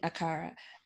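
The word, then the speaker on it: Accra: of so you were born in ghana in acara uh did i pronounce it properly yes yeah and you were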